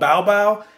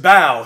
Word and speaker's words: Bao: which i really enjoyed called baobao i think that's how you say it hold up no it's just bao he also executive produced